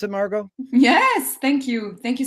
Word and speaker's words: Margaux: Frank and is that the correct way to pronounce it Margo yes thank you thank you so much for